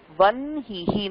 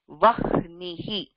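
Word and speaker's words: वह्निः: So this would, you would think it will be pronounced vahnihi. So it is not vahnihi, even though her da modala vartha, this is pronounced vanhihi.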